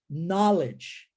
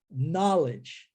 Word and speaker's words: knowledge: Só que K-N-O-W, saber ou conhecer, a gente já sabe que a pronúncia é know, não é? E agora, a pronúncia é knowledge, como now.